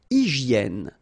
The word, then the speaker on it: hygiène: Une hygiène. So remember, we've got this Y here, vowel, and it's pronounced like E, okay? Hygiène. H doesn't exist, H doesn't exist in French, so hygiène.